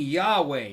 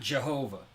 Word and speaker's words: Yahweh: But the way Germans pronounce things, the J's and the Y's are backwards and this and that. Germans would pronounce would kind of write it in a way that would kind of look like Jehovah. Jehovah to the English reader, but they're saying Yahweh, not Jehovah, which is it's funny.